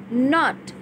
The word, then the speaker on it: knot: Third, tight नॉट नॉट with this rope. First हमारा है KNOT, नॉट, जिसमें K silent रहता है एंड we pronounce it एज नॉट.